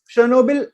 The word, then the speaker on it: Chernobyl: if you go back chernobyl or rather chernobyl uk pronunciation chernobyl and fukushima and three